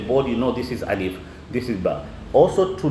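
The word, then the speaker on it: ألف: system you understand so the proper way of pronouncing alif is not alive it is alif two minutes then i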